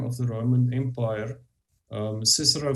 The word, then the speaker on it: Cicero: the Roman Empire um Cicero for example wrote about it or kick her out if you want to pronounce it like that um and and so